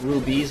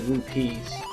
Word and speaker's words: rupee: some rues and it's it's pronounced R it's rupe not rubies Al when I was a kid I call I always call them rubies but they're actually rupes so if I if